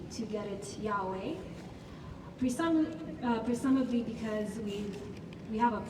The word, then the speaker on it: Yahweh: But scholars and rabbis have noted that the letters YHWH represent breathing sounds or aspirated consonants. When pronounced without intervening vowels, it actually sounds like breathing.